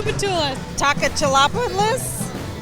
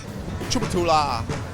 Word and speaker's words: Tchoupitoulas: about every Street like this one can you pronounce it I would say to Petula Takata la Perlas it's absolute to Tchoupitoulas having trouble just ask a local hard to